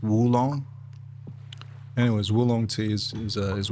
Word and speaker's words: oolong: tea from China, do you know that it's not actually ulong? The way it's spelled like O L O N G, it's not uong. It's actually Woo because it comes from the Woo Mountains. Wooong.